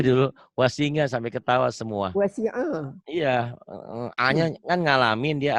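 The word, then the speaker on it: وسع: Wasi'a. Iya, A-nya kan ngalamin, dia alhamdulillah ngalamin. Mungkin orang-orang mana tuh nggak tahu. Wasinga dia bacanya. Wasi'a ya. Jangan ngas tapi as.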